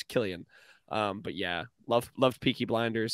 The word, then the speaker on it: Cillian: It's Cillian.